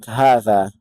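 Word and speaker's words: هذا: Something to take note of is like Hadha, which the Ha is elongated but not written.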